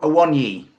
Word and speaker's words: Awoniyi: It sounds like Taiwo I want you.